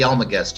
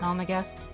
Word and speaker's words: Almagest: I think it's pronounced the Almagest. Yeah. Almagest.